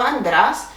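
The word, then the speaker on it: άντρας: another masculine noun or andras which the accent is on the second syllable from the end and it will not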